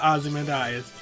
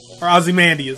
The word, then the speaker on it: Ozymandias: that is actually a reference to Osmond is Ozymandias my bad gotta pronounce that correctly Wow well that was